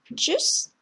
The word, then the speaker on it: Tschüss: 역시 발음 기호 참고하시고요. 그래서 tschüss, 안녕, 잘 가라는 의미 Tschüss, das Deutsch.